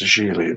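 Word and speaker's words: Gigli: on the mailbox yeah it's pronounced a Sheely like Rhymes a really Ben Affleck would cooperate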